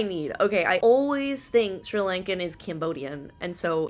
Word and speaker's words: Sri Lanka: The first thing we're gonna do today is learn how to pronounce it, because I'm sure I'm pronouncing it wrong. Sri Lanka.